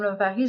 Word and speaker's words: L'Ovary: Parce qu'en fait, il faut préciser que ça s'écrit L''OVARY, oui, pas tout attaché. Oui. En fait, Madame Lavary, ça vient de 3 choses. Ça vient de love, your ovary, donc love ovary.